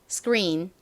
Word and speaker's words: screen: 보다는 리 이렇게 발음을 해 주시면 더 원어민 발음이 됩니다 따라해 보세요 screen 스크 좋습니다이 스크의 의미가 뭘까요 스크린은 화면을 의미하는